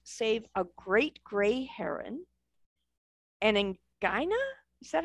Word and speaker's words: anhinga: Since moving to Florida, Linda has helped save a great gray heron, anhinga? Is that how you anhinga.